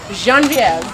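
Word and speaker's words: Geneviève: How would you pronounce Genevieve in French? Genevieve.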